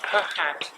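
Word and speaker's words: phat: Or as you spell it, the fat tunes.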